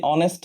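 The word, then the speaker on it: honest: কিন্তু এই নিয়ম আবার সবসময় কাজ করে না, বিকজ যখনই আমরা বলি অনেস্ট ম্যান, তখনই অ্যান অনেস্ট ম্যান চলে আসে। অ্যান অনেস্ট, বিকজ এই এইচ হয়ের মতো উচ্চারণ না হয় অয়ের মতো উচ্চারণ হচ্ছে।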